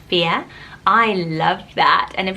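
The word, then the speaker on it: Fiadh: meaning wild fear so it's spelled fi ADH but it's pronounced fear I loved that and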